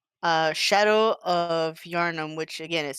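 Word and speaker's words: Yharnam: Uh, Shadow of Yarnum, which again is spelled weird.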